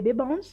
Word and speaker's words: Bbans: Et si tu veux papoter, envoie-moi un petit message sur Instagram, c'est Bbans, comme ça se prononce, B-B-A-N-S, et c'est suivi de cœur violet.